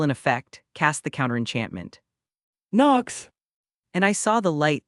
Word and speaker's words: Nox: The pronunciation is NOKSS, and your wand movement is a wave. He demonstrated. I then, with the Lumos spell still in effect, cast the counter-enchantment. Nox!